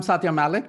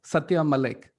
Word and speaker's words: Satya Malik: all right and i'm satya malik because i always forget to introduce myself and if you want to know the real indian pronunciation of my name it is satya malik and if you want